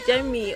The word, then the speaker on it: Jemie: Remember, for all of you who cannot pronounce my name, I've already told you guys pronounce it as Jimmy.